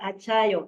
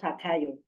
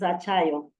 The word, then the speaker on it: Achayo: Achayo is the name. It's not Akayo. It's Achayo.